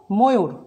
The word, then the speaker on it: ময়ূর: আবার দেখো দীর্ঘ উকারের আগে যদি অ থাকে সেই অয়ের উচ্চারণও ও হয়ে যাবে। বধু আমরা লিখি বধু কিন্তু উচ্চারণ করব বধু, লিখি ময়ূর কিন্তু উচ্চারণ করব ময়ূর, লিখি মণ্ডুক উচ্চারণ করব মণ্ডুক, লিখি কর্পূর উচ্চারণ করব কর্পূর।